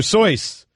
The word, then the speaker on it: Seuss: Seuss is actually pronounced doctor how do you say then soy doctor sois 58% of the audience said no why is